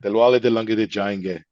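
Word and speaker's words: Dilwale Dulhania Le Jayenge: Dilwale Dilanga de Jayenge.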